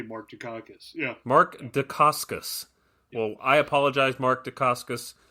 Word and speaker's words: Dacascos: I used to say Mark Dukakis, but that is not his name. Yeah. Dacascos. Yeah.